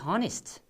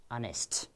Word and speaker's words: honest: Is this honest? I have heard many times, okay? But this is not honest. Look, it is pronounced as honest.